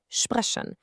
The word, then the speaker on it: sprechen: Same idea for sp, it's pronounced sp, like in sprechen.